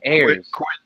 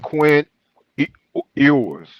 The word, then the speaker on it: Ewers: No, it's pronounced Quinn Ewers. Is it like you, like the letter U, or ew, like you're saying ew?